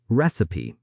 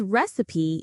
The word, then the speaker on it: recipe: Recipe. This recipe makes delicious cookies, pronounced recipe, not recipe.